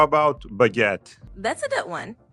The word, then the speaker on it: baguette: How about baguette? That's a good one. It's pronounced almost like it looks. Baguette, with a little emphasis on the second syllable.